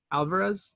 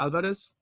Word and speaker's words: Alvarez: last name and again remember it's Alvarez or el Vettes see I just mix pronounce it - I shouldn't ever yeah so we're gonna go